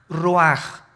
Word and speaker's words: ruach: Isaac Qué cosa el ruaj que se escribe r u a c h ruach en el hebreo y se pronuncia igual ruaj Aquí vemos que al